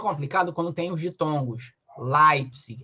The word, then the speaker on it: Leipzig: Leipzig, L-E, aí tem o som de A.